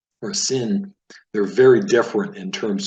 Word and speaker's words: sin: So shin has the SH sound, and then sin has the S sound, as in the word sound.